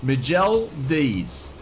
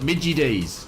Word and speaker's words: McDonald's: No, it's not Macca's. No, it's called Miguel D's. Miguel D's is how you say it in French. Miguel D's. And then if you're up north in Australia, call it Midgie D's.